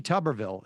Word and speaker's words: Tuberville: I mean, I think like Tommy Tuberville, is that how we pronounce his name? Yes.